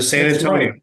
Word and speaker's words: San Antonio: American football down in San Antonio I stepped off the I stepped off the bus and I learned how to say son Antonio you have to say it right San Antonio and I had this